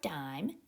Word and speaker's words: dime: that we had with that long I in that sneaky silent e so we can sound that word out duh I'm done we have that long Val because of that e now it says color